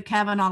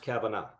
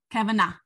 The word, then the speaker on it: Kavanagh: Because in Ireland, it's pronounced Kavanagh. Kavanagh. But here they say Kavanagh. And when they say "aw," they think A-U-G-H.